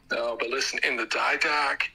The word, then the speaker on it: Didache: You're not even pronouncing the text correct that you're citing. It's the Didache, and the Didache talks